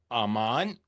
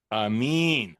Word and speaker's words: Aramin: I'm here with Robbie Demolin and Basam Aman. I mean, they are both I pronounced your name wrong. And Amin, I'm from Brooklyn, New York, so you got to excuse me, of course.